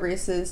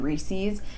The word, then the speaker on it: Reese's: Reese's Pieces, and like it's supposed to rhyme with the word pieces, and for some reason my brain was just like, nah, it's Pieces.